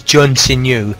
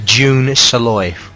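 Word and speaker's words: Jun Senoue: I thought it was Jun Sinyu, but it's pronounced June Saloy.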